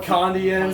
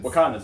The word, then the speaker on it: Wakandans: A lot of Asgardians, a lot of Wakandians, sorcerers. You say Wakandians. Just say Wakandians. How do you say it? Wakandans, okay.